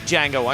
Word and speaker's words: Django: Quentin Tarantino's tackled a heist movie, he's tackled a kung fu movie, and now he tackles westerns with Django Unchained. What's your name? Django. The D is silent.